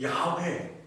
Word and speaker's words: 야훼: 그런데 이제 이것을 이 이스라엘 사람들은 야훼, 여호와, 이제 야훼라고 하는데 우리 한글 성경에는 여호와라고 되어 있는 것이죠.